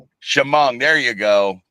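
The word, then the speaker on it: Chemung: Spent the entire day yesterday in She pronouncing that right. Uh Asphalt Track up in New York. Shimong. Shimong.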